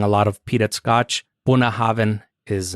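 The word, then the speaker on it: Bunnahabhain: had a stroke while typing but it's actually pronounced buah Haven and it's galic for mouth of the River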